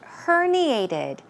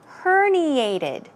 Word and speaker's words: herniated: Let's move on to the next word, herniated. That's right. Pronunciation is herniated. Herniated. Stress goes right here.